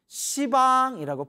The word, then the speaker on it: 시방: 무슨 욕 욕 왔잖아요 그래서 불교에서는 씹 열십자 의 발음에 완화시켜 서 시 방이라고 푸는 거예요 사방 팔방 위아래 씨방